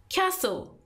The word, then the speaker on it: castle: or Motorhome number 16 Castle castle as you know and this word T is silent modernity tree in calomel